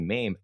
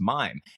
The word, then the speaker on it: Maim: And so whenever people mispronounce my name, they call me Mame. I got so triggered. I got so mad because no, my name is pronounced Mime, MAIM.